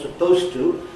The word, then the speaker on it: supposed to: as the pronunciation was supposed to, a similar one. Not supposed to, but supposed to. And I'm sure he's absolutely right about the frequency of occurrence. Most people say supposed to, just the same as they say used to.